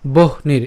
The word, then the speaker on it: বহ্নির: সো ধূমেনা ব্রিয়তে বহ্নির, এই যে আমরা এটা একসাথে উচ্চারণ করব, ভাঙানোর জন্য ভেঙেছি কিন্তু উচ্চারণ করার সময় একসাথে উচ্চারণ করবো, বহ নীর, বহ নীর যথাদর্শ, বহ নীর।